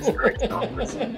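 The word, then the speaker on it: Kristofferson: It's pronounced Christopherson.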